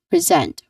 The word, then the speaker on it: present: Pre next to that the second syllable which is the stressed syllable here. So we say it a bit more loud and we say it a little bit longer. We emphasize it basically is zent. That's the second syllable zent. It starts with a buzzing sound. Although the spelling of the word is letter s which is a hissing sound which should be a hissing sound.